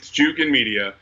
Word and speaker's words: Jukin: Is it Junkin Media? Like what's the proper way to go about this? There's only one N in the name. It's Jukin Media.